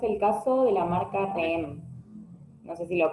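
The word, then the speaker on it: Rheem: caso de la marca Rem no sé si lo estoy pronunciando bien r h e e m Sí sí perfecto Mira Sí sí por supuesto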